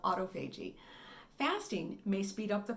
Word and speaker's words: autophagy: I thought it was autophagy. Looked like it was autophagy. It's not. It's autophagy. Autophagy. I mispronounced it.